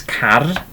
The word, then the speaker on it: car: Okay, so this next one, okay, spelt exactly the same as the English, pronounced a bit differently. Okay, so a car, okay, is a car. Okay, so it's that rolling the R sound.